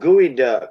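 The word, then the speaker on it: geoduck: what you said earlier David David it's called gooey duck it's like a horse Church agent is that how you spell it over el Anatomy hey what it looks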